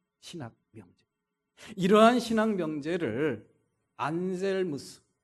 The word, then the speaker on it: 안셀무스: 이러한 신앙 명제를 안젤무스 라틴 발음으로 안셀무스라고 하고요.